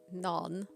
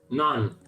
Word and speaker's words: naan: Naan, that's my favorite bread. None. Yeah. Not none. Naan.